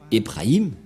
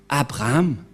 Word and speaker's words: Abraham: prononcent le Dieu d'Abraham mais pour eux c'est plus ébrahim mais Elia vous dit que c'est Abraham car on l'a retrouvé premièrement dans le livre juif les Juifs ont prononcé Abraham c'est-à-dire que le Dieu